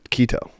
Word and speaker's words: keto: got a note uh about this K to O kto kto keto k that's correct pronunciation fun fact okay uh my boyfriend decided he was going on a keto diet to start the new year I thought I always thought it was ketto too ketosis yeah yeah is